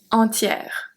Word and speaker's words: entière: If we look at entier, it's going to be different. We have entier, entière, entier, entière. So here the pronunciation change if it's masculine or if it's feminine.